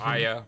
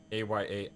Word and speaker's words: Aya: the game because in most of the world they use that type of a for the name so Aya would be a-y-a-ay Aya uh the same